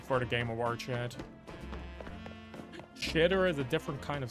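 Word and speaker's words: Xitter: Shitter is a different kind of site. No, you spelled it wrong. It's X-I-T-T-E-R. You just pronounce it like shitter, but it's a X-itter.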